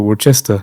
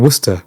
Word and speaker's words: Worcester: I get a return ticket to Worchester? Yes. And she looked at me and she goes, "Did you mean Worcester?" I was like, "Is that how you pronounce it?"